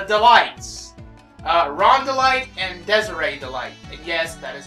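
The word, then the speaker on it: Desirée DeLite: characters actually the Delights uh Rhonda light and Desiree delight and yes that is how you pronounce that name I don't know if Desiree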